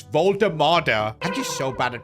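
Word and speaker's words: Woltemade: Also, I think I need to stop calling him Voltamade. It's Voltamada.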